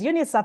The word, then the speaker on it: UNICAF: seeing an advert for UNICAF. Some of it's sometimes we pronounce it as UNISAP and I'm like, "Okay, let me check these guys out."